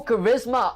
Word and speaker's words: charisma: Oh, Charisma. Oh my god, guys. I can't pronounce.